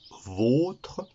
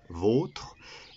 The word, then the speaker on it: vôtre: Alors que le deuxième, qui se prononce vôtre, le O se prononce O, vôtre, est précédé d'un article, le, du, etc.